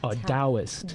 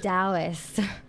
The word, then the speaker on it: Taoist: Let me say it right. Taoist. Taoist. Okay, I'm sorry. No, it's okay. I'm American. No, oh my gosh, no, I shouldn't have said that. The T is, yeah, D in Chinese.